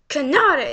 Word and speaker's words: Kanade: Kanade, that's how you say her name.